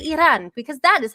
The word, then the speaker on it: Iran: And yes, I say Iran because that is how you're supposed to pronounce it. Yes, Iran.